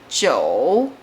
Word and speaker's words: 二: 5 9 2 4 6 are all the fourth tone, the falling tone.